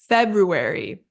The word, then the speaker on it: February: stress on first syllable our second word was February February there's that slight R sound in the second syllable and our stress is on the first syllable February then we have either in